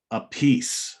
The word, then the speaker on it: Appice: He said the real way to say it is a piece. The traditional Italian is a piece, a pice, or a piece.